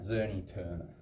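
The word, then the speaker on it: Czerny-Turner: So you pronounce that Zerny Turner.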